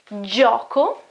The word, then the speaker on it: gioco: When this G is followed by E or A. In this case, it's not G anymore, but it is G, J. Examples, gioco, gioco, it's game, okay, or